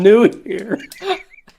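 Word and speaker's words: Nuhir: i came up with that's brilliant hello i'm new here it's spelt n-u-h-i-r new here uh yeah just so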